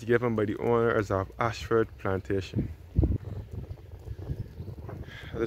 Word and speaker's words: Ayshford: This is situated along Ashford, St.